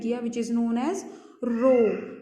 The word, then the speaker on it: rho: Which is known as रो. इसको हम pronounce कैसे करते हैं? रो, RHO, रो, RHO ऐसे बोलते हैं हम इसे.